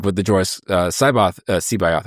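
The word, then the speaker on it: C'baoth: I never wanted to just be, like with the Joyce Sebayoth. I can never pronounce it. Sebayoth. That's how Zahn told me to pronounce it.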